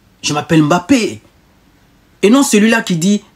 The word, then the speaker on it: Mbappé: C'est Kylian Mbappé. Il n'y a pas d'apostrophe. C'est ça, Kylian Mbappé. Il n'y a pas d'apostrophe au milieu. Je m'appelle Mbappé.